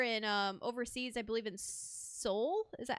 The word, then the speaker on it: Seoul: I believe in Seoul.